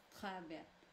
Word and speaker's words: travail: Ouais, the A-I-L here are gonna sound y. It's not as Travail. intuitive as some others, but it's the L are rarely silent, even though final in French. It can happen, but most of the time they belong to the consonants that we would pronounce, even Okay.